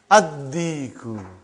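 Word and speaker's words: الديك: Ad-diku. Why? You did not pronounce lam because it is sun letter.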